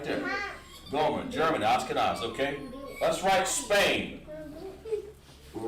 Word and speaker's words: Ashkenaz: Ashkenaz. They pronounce it Ashkenaz.